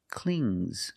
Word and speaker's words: clings: If I change it with an S, I hear clings, clings. It's a soft G. Not clings, but clings. Example, the baby.